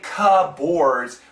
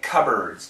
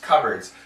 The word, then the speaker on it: cupboards: boards but the pronunciation the P is silent there's no P and we don't say cut boards we say cupboards cupboards so it actually sounds